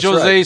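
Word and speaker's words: José: This is what Jose said drunkenly in their little meeting.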